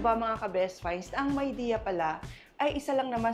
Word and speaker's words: Midea: rin hindi ko alam yung pronunciation pala nitong myide ay myidea at hindi mide na alam nating lahat ' ba? Kasi ang ibig palang sabihin non ay may idea.